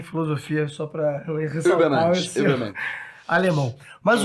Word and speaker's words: Übermensch: Guilherme, qual é a pronúncia correta para super-homem em alemão? Übermensch.